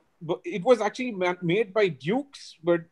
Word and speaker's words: Dukes: cricket balls it was dukes bu ke apostrophe s Butte of Great Britain and Dukes was mispronounced in India as juice well Dan Patrick family